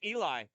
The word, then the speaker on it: Elia: Back to the stick of Jack Eli. It's not Elia. I found out. The A is silent.